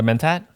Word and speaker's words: Mentat: So, The Mentat, or is that how you say it?